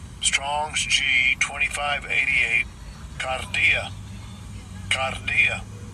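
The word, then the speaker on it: kardia: So it is G2588 and I'll give you a pronunciation. Strongs G2588 Cardia Cardia.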